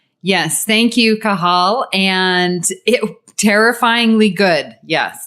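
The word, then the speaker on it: Cathal: She told me last week how to say her name, and she's like, the T is silent. So I'm like, how do you make a silent T? Cahal?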